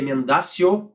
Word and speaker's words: emendatio: potássio e ele mendacio como te escreve emendatio e pronuncia mendacio iria e Belle o